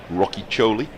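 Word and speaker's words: Rocchiccioli: the Australian spinner Corey Rocky Choli. Took 5 wickets in the second innings against Somerset. Well pronounced, by the way. It's very Italian sounding.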